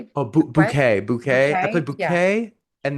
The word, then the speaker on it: bouquet: one to the other was because play banquet. Am I saying it right? Oh bouquet.